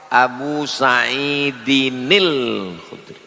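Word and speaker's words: أبو سعيد الخدري: Kalau disambung muncul nun kecil. Namanya nun wiqoyah. Abu Said nil Khudri. Begitu cara bacanya.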